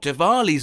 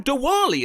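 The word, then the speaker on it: Diwali: Hi, Rhol Devali's on the four. I believe there are actually two different pronunciations for this.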